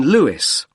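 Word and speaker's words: Lewes: r l i s l e you don't pronounce the s Carlisle way and that's in Lewis l e w e s and is there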